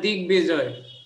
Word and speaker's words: দিগ্বিজয়: স্যার দিগ্বিজয়। যেমন হচ্ছে আমরা বললাম যে দিগ্বিজয় বা বলয় ইত্যাদি, তাই তো? তাহলে বয়ের উচ্চারণটা রয়েছে দিক যোগ বিজয় সমান দিগ্বিজয়, কিন্তু এখানে বয়ের উচ্চারণটা স্বাভাবিকভাবেই হচ্ছে।